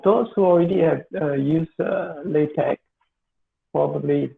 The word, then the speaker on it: LaTeX: pronounce it latex or lar tags you might thirdly but the actual pronunciation by the founder or creator of it's called latex or large pack so it's with the k sound ending not like supposed to